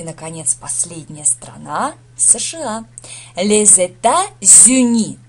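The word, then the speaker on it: les États-Unis: США ле Зета зни Ох как произносится сложно Да во-первых во множественном числе Соединённые Штаты Америки получается Здесь у нас артикль ле множественное число это зю это штаты объединённые и получается так что здесь связочный здесь сливается с получается з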